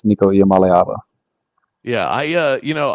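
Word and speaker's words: Nico Iamaleava: pronunciation one more time I believe it's nikala um some say a at the end but it's niiko malava yeah I uh you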